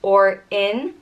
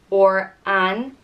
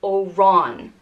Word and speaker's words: Oran: The next one is Oran, and it means sallow one or dark-haired or pale little green one. And it's pronounced Or-in or An or Oran.